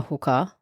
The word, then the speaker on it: hookah: love their friends their hookah and their cigars now I don't know maybe we're saying it wrong but in Australia we do actually call it a hooker pipe yeah they are calling